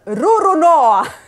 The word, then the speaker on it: Roronoa: ci consoliamo perché a quanto I Giapponesi lo pronunciano con Roronoa adesso non potete più dire che io pronuncio